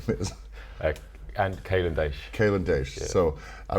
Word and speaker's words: Kalen Daish: And Kalen Daish. Kalen Daish. Yeah. So I was going to pronounce it wrong if I would have done it.